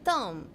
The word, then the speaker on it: Thom: H is silent? Oh, it's Thom.